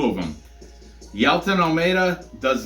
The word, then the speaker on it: Jailton: Next, we've got the light heavyweight fight between Danilo Marquez and this beast of a man, Jailton or Jailton. I think the J is pronounced like either silent or, anyway, we'll call him Jailton Almeida because he speaks Portuguese, Brazilian, so native tongue is Portuguese.